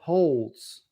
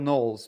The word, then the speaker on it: Knowles: on Locals saying that Siraj calls him Michael Holes. What am I calling Michael Holes, Jay? Michael Knowles, because you want to bang Michael Knowles. So instead of you call him Michael Knowles, you call him Michael Holes.